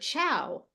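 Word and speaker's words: ciao: not a Portuguese sound you have the word Chow I said it in Brazil all the time Chow but you think of it as a TCH chow and that's because this is Italian not Portuguese you have borrowed it from Italian and so but the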